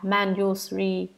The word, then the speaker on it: Manjusri: Ngài Văn Thù Sư Lợi, nguyên âm tiếng Ấn Độ đọc là Manjusri, chữ Hán là Diệu Đức, Diệu Cát Tường.